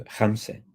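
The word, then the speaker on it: خمسة: Thalatha, which is 3, would be talate. And khamsa goes to khamse.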